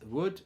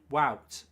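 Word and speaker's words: Wout: him you should know you don't pronounce voot as wood but as well like you say cow greetings from that what you should know you don't pronounce voot as would but as woo wow like you say cow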